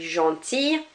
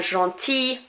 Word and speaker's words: gentil: So fille rather than fille, famille rather than famille, and gentil rather than gentille. We are not pronouncing those L's outright. So that I-double-L-E is more of an E sound rather than an il.